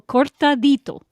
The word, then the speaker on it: cortado: I No, not with an L. Cortado. With a D.